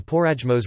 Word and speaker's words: Porajmos: or the Romani Holocaust, also known as the Porajmos Romani pronunciation, IPA, POIMOS, meaning the devouring, the Farahimos,